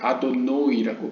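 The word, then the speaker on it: אדני: 이 65라는 값은 또한 아도나이, 여기서는 이제 아도노이라고 발음했는데요. 보통은 이제 아도나이라고 흔히 읽는 이 주님, 나의 주라는 의미의 아도나이와 같은 값을 갖고 있습니다.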